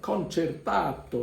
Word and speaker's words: concertato: to the channel please today's word is concertato concertato you pronounce it like in italian concerto is one of